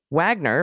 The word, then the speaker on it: Wagner: congratulations the delightful Mr Wagner pronounced with a W who is very proud